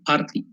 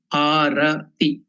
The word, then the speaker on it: Arati: So don't get confused for Arati, because here in South Africa they pronounce Arati as also Arti. It is not Arti, it is Arati.